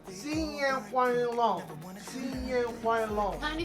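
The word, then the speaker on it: 新年快乐: Hung Yang Hung. No, baby. Oh my God. You said it wrong. Oh, 新年快乐. Sing Yang Kwang Long.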